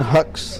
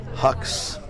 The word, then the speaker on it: Hux: Brandon Hux, and that's spelled H-U-X.